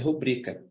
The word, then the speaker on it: rubrica: pros olhos dessa palavra essa palavra é uma paroxítona não é uma proparoxia muitos pronunciam essa palavra de que maneira muito pronuncia assim ó rubrica rubrica como se fosse proparox muitos pronunciam dessa maneira porém essa palavra minha gente ela não é proparox ela é parox a pronúncia rubrica observa como é importante